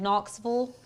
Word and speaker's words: Knoxville: people say that's wrong Knoxville marville Cookville V it's V not Vil what Mary I mean it is it's it's spelled v i l l e you say noxville hurts my mouth not you